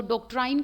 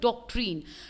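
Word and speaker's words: doctrine: तो डॉक्ट्राइन का मतलब क्या? Sorry, I think this would be pronounce as डॉक्ट्रीन।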